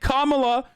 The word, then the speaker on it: Kamala: yeah he said it right like he said Kamala ah Kamala Mala Mala it's like weird it's